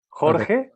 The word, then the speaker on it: Jorge: me so i remember george georgie you're muted i can't hear you you're muted jorge jorge okay okay imagine a horse eating hay and you just pronounce this first syllable easy thank you thank